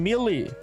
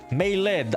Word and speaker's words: Melee: Kacho says what? Mele. Melee. Ah, yeah. That's how you pronounce it.